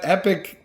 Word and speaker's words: Epoch: is the epoch rye it's spelled with an O instead epic I'm sure you say epic but it's EPOC H epic yeah no I'm just